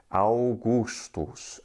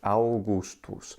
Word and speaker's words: Augustus: himself the AUST one and we call him Augustus well good old gust didn't call himself that in Latin instead it was Augustus Augustus and it has that pronunciation in both classical Latin as well as